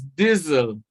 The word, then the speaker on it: diesel: The given word here is diesel. The sound here is the sound of Z or Z. Z or Z. Diesel, Z. Even though the underlying letter is S, it represents the sound Z.